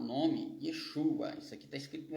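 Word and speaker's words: ישוע: O VAV tem som de U, de O, mas aqui é U. E o AIN, ele é mudo, ele não há pronúncia para o AI, ele é mudo, mas como os sinais maçoréticos vai trazer, ele vai ter som de A.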